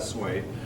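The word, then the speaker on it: Sui: the S Dynasty um sway pronounces that sway the sway Dynasty unified China I'm not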